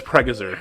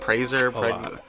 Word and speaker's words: Pregazer: It's Pregazer. Yeah, I know. Pregazer? Yes. I wouldn't have even guessed that. It gets butchered a lot. I was like Praiser, Yeah.